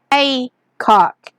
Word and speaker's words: Hathcock: He spelled it Hathcock and pronounced it Haycock.